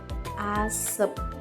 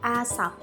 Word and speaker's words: asap: bunyi a contohnya kata gatel-gatel Asep bunyi yang digunakan penutur adalah bunyi vokal e seharusnya bunyi vokal a setelah diperbaiki kata gatel-gatel diganti menjadi gatal-gatal dan kata Asep menjadi asap yang kedua ada kesalahan